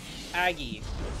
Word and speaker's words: Agge: auggie okay so i i asked augie how to pronounce his name aggie aggie he said aggressive but without the i sound made by the e it i don't know